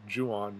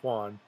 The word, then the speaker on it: Don Juan: the he pronounced it Juan not Juan and we know that because of the way he rhymed it and that wasn't a